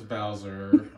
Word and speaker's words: Bowser: but okay right so my last name is Bowser um always rhymes with the mayor's last name why because we have